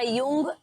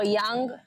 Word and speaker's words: Jung: Tenía un libro yo que era Jung o Young. Bueno, ¿El Young. psicoanalista? Sí. Ah, ok. ¿Cómo se dice? Jung.